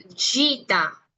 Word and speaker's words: gita: chiquitos, me dicen, Miss, es como cuando decimos en inglés la palabra jeans. Y sí, es muy parecido el sonido. Si a ustedes se les facilita asociarlo con lo que es el G de jeans, lo pueden hacer, no hay ningún problema,